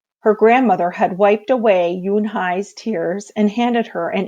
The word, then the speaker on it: Unhei: "Une?" the girl asked, scrunching up her face. Une," some kids chanted. No, Yunhai corrected. It's spelled Unhei. It's pronounced Yunhai.